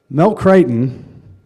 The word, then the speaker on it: Crichton: Mel Crichton told me his last name is pronounced like fightin'.